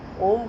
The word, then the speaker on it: ओम: ओम का उच्चारण, पूरा गहरा श्वास भीतर की ओर भरें और श्वास को बाहर की ओर निकालते समय पहले ओ का उच्चारण, फिर म का उच्चारण।